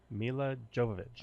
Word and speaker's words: Milla Jovovich: then one two five say how do we pronounce her name Milla Jovovich okay Milla Jovovich hair for it was you